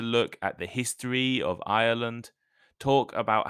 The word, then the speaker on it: Ireland: slightly different the country the name is irand has three syllables Ireland Ireland while irland the geography like uh the Britain is an island Australia is an island only has two syllables isand so listen carefully so you know if I'm saying Ireland or Island so the island of